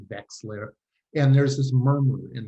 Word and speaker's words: Wexler: myself and i say my name is westler and i pronounce it vexler and there's this murmur